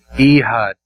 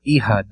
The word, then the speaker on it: Ehud: Ehud. A weird name. I've heard it pronounced Ehud or Ehud.